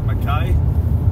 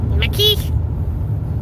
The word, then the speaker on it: Mackay: So we're heading 230 k's north towards Mackay, or as I say, Mackay. Mackie.